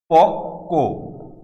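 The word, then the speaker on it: পক্ব: কয়ের সাথে ব দিয়ে আমরা লিখলাম, আমরা উচ্চারণ করি পক্ক, পক্ক, অর্থাৎ ক ধ্বনিটি দুইবার উচ্চারিত হয়েছে।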